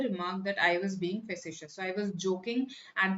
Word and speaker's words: facetious: That's how it is pronounced, facetious.